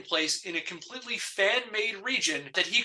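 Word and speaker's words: Rijon: that he called region I'm not sure if that's how it's pronounced but it's spelled r i j o n so region rahan ran whatever region I'm going to go with region and some places online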